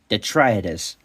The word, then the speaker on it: Detritus: Yes, Detritus. Yes, that's how you say their name. And yes, I have been pronouncing it wrong in that entire review.